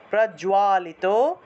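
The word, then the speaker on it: প্রজ্বালিত: তাহলে ভারত পূর্ণ প্রজা বর্গীয় জয় এর সাথে বপলা থাকায় জুয়া উচ্চারণ হবে প্রজোয়া জুয়া আকার আছে আকার থাকায় জুয়া উচ্চারণ হয়েছে প্রজোয়ালিত জ্ঞানময় বিসর্গ থাকায় হয় প্রদীপ বিসর্গ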